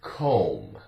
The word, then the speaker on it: comb: The B is silent, no sound.